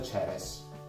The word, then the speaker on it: Ceres: In inglese Cerere si pronuncia Ceres, quindi per me è molto più facile immaginarmi la birra, quella Ceres, Cerere.